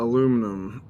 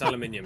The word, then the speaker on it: aluminium: Uh, aluminum. How much? Wait, you mean aluminium? Yeah. Yeah, it's aluminium. Thank you very much. Let's say it correctly.